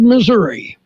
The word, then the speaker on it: Missouri: okay Buffett yes let's hear it for Hazelwood Missouri I in there it's pronounced Missour Missour yeah okay and oh fat